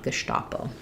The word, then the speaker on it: Gestapo: it's so associated with the German that I do think people know to pronounce that correctly with the SH sound, Gestapo.